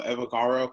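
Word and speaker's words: Evbagharu: So my name is Evagaro. I always tell people the way you see it is the way you say it, but the B is silent. So Evagaro.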